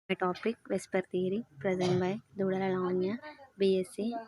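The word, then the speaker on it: VSEPR: predicts shape of compounds abbreviated whisper whisper pronounced whisper stands for valence shell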